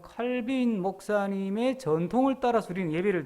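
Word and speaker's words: Calvin: 근데 이제 장로교는 그 중에서도 마르틴 루터의 전통을 따르지 않고 우리는 존 칼빈, 요즘은 깔뱅이라고 발음을 하던데 이 존 칼빈 목사님의 전통을 따라서 우리는 예배를 드리는 거예요.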